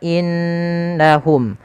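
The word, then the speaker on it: إِنَّهُمْ: Ala innahum, pada lafal innahum ditahan suara nunnya karena di sini ada bacaan gunnah. Kesalahan yang terjadi tidak menahan gunanya.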